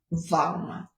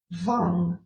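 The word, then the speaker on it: Vam: chant the mantra is vang. Okay. Um you can also pronounce that W vong but it's it's really quite you know um soft the V is quite soft.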